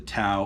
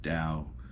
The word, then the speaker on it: Tao: dao of willy don't feel bad if you think it's called the tao of willy um i was right there with you for years and anybody who's gonna be real harsh with you about mispronouncing the word dao uh just does not